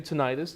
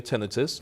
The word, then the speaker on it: tinnitus: And I did have to ask Mike, by the way, how to pronounce this, and he said that you can't say tinnitus, you can also say tinnitus.